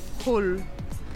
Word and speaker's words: Hall: Hall. Yeah. Hein, le H est mieux en français, mais en anglais, tu prononces le H.